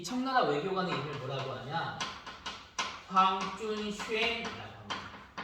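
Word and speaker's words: 黃遵憲: 황준쉔이라고 합니다. 발음하기 어렵죠? 한자로는 황준헌이라고 하는데 중국식으로는 황준쉔이라고 한답니다.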